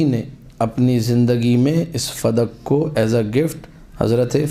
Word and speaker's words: فدک: المنیر میں لکھا ہے۔ فدق لفظ غلط ہے، جو لوگ کہتے ہیں فدق، یہ غلط لفظ ہے، اصل لفظ اس کا جو صحیح تلفظ ہے، کریکٹ پروناؤنسیشن یا پروننسیشن جو بھی ہے وہ ہے فدق بے فتح الفاء والدال، فدق۔ بلدتن، یہ ایک شہر